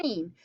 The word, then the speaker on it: Greene: name is gundy bird green that's green with a silent e at the end and i just moved